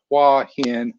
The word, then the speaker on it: Hua Hin: then cj paradis saying it is not hua hin haha so i think he's probably busting me out of my pronunciation of hua hin so it's hua hin maybe not hua hin i don't know i think we talked about this during his interview we thought didn't really matter so much definitely a lot of different ways to to pronounce it and then paul rogers is